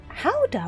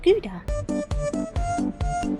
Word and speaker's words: Gouda: I think it's supposed to be pronounced Howder. What, the cheese? It's not Gouda.